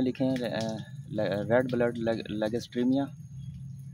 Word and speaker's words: Lagerstroemia: इसका जो लेगिस्ट्रोमिया भी मशहूर नाम है, लेकिन जो दुरुस्त और साइंटिफिक नाम है तलफ़ुज़ के साथ वो है लेगिस्ट्रीमिया, LAGERS leggers, LAGERS leggers, TROEMIA। जो इस स्पेलिंग के तलफ़ुज़ के अंदर जो वर्ड है ओ को नहीं पढ़ते, ओ साइलेंट है, इसलिए साइलेंट लफ्ज़ को पढ़ना नहीं होता, इसलिए इसको आप लोग लेगिस्ट्रीमिया पढ़ें।